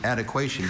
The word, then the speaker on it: adequation: Lionel counted the Haribo gummy bears and then split them so there would be adequation between the two piles. Adequation. Adequation. Are there any alternate pronunciations? Only adequation.